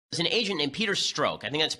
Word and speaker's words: Strzok: There's an agent named Peter Strzok. I think that's how it's pronounced.